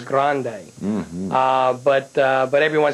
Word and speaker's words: Grande: or the spelling of grand with an E well it's the whole Spanish Mediterranean type Flair and the correct pronunciation is Grande uh but uh but